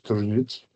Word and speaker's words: Tržič: So the town of Tržič, and pardon my pronunciation, that's about right, wasn't it, Andraž? Tržič.